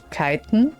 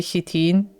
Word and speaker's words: chitin: I think it's Kiten. Is it Kiten? Because I'm German, so I say Chitin because we pronounce CH like ch. I think in English CH is like K. So it's like Kiten.